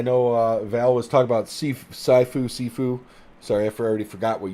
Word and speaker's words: Sifu: Sifu or Saifu, I don't know exactly how it's pronounced. Sifu, thank you.